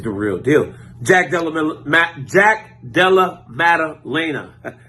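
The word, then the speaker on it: Jack Della Maddalena: real deal Jack Delaware Jack Della madalaina that's how you say his name knocking out Randy Brown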